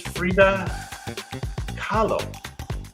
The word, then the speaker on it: Frida Kahlo: Yes, this is Frida Kahlo. I think I'm pronouncing that right.